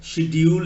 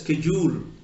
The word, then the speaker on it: schedule: On the one hand, you're pronouncing SCH as sh. On the other hand, you are pronouncing SCH as sk.